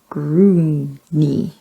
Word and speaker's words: Grungni: Grungni.